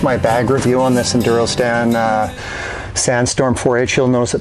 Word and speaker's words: Enduristan: So while we get the Husqvarna loaded up with adventure gear, it's pronounced Enduristan, not Enduristan.